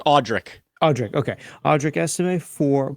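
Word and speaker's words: Audric: I added a e that's not there it's audri audri okay audri ese four points today all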